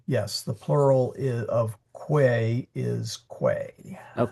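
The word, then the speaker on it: quae: Yep, it's quay.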